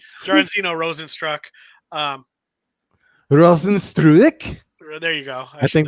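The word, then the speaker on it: Rozenstruik: JDS Junior Dos Santos faces off against Jazino Rosenstruck. I don't even know why I try to say his first name. Jaranzino Rosenstruck. Um, Rosenstruik?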